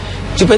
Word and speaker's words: Jupe: banget dengarnya yang aduh ngomong Jupe bangkrut ini bacanya Jupe itu enggak bangkrut tapi